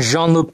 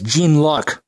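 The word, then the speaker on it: Jean-Luc: uh for example Captain Jean Luke Picard um the book player will often pronounce it as Gan luck okay that's that's not that's not um you know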